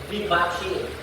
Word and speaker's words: vivace: How to pronounce this word? It is vivace.